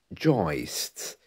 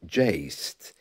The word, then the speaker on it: joist: Well, the one I've mentioned already is joist, sometimes pronounced jaist in different parts of the country, a horizontal structural support for a floor or ceiling.